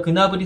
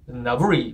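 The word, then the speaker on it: Gnabry: 그나블이 선수가 그나블이라는 거. 저도 예전에는 그냥 나블이라고 썼는데 그게 아니라 그나블이라는 거. 이게 사실 코트디부아르 아버지 이제가 있기 때문에 코트디부아르는 이 프랑스어를 쓰거든요. 프랑스어 발음으로 읽으면 세르주 나브리 뭐 이렇게 돼요. 맞나? 세르주 나브리 뭐 이렇게 되는데 이 본인이 이게 이제 독어 쪽으로 가면 그나브리 가는 거고 본인이 자기 이름을 이제 어떻게 발음해야 되냐는 질문을 받고 나는 그나브리라고 쓴다.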